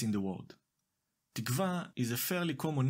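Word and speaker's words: תִּקְוָה: When used as a name, it is safe to say that most people stress the second to last syllable in the word. It sounds like this: tikva.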